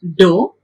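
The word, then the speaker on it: ∂: derivatives the equation if the symbol it is there do we will pronounce it as do if the equation it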